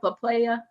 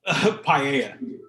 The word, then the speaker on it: paella: Papaya. How do you say it? Paella. Paella.